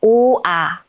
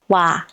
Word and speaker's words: ㅘ: we do not say o-a it should be the same length as other vowels so not o-a it's wa we'll practice this more